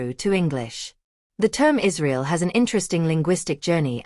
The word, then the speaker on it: Israel: the Latin script pronunciation in classical Latin it would be pronounced Israel with a trilled r English Israel from Latin